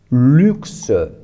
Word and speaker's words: luxe: Temos U aqui, que pronunciamos U. Temos X, que pronunciamos X. E, que se pronuncia E. Então, essa é luxe.